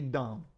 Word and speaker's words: dumb: with that don't be dumb du M the B is silent hey you can win